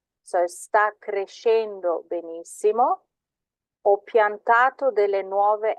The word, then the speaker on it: crescendo: When you have a C, an S and a C, it's a sh sound. So sta crescendo benissimo.